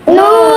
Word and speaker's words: ن: নুন নুন নয় নাম্বার মহারাজ নুন নুন নুন কিভাবে উচ্চারণ হয় জিব্বার আগার আগার উপরে